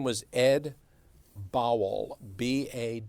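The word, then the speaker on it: Bawel: b a w l but his it was pronounced bowel but people would pronounce it Bobble so it just seemed to fit together that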